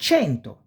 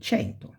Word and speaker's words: cento: And cento. When we see the numbers, we will see cento, 100, 100, okay? So, cesta, ceci, cerbiatto, cesoie, cento, ce. You pronounce like chest.